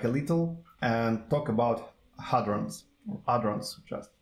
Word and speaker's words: hadron: And what is hadron? Hadron. Okay, so the name. What is the correct pronunciation? Hadron. Using hadron. Yeah, I'm pretty sure it's hadron. So without silent H, yeah, because like usually it's.